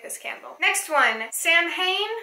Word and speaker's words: Samhain: this candle next one Samhain or saw Wayne it's pronounced both ways I read it Samhain you can do sow in whatever is more widely